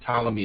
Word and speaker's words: Ptolemy: by uh ptolemy and ptolemy is filled with the silent p at the front i say for ptolemy